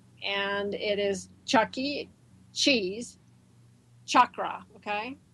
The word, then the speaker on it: chakra: it is Chucky Cheese chakra okay so it's chakra chakra not chakra okay I get so irritated when I hear Somebody pronouncing it wrong and everybody pronounces it